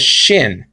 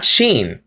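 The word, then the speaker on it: שׁ: the case may be he said that he pronounced this letter as shin not Xin some people pronounce it shin and not chain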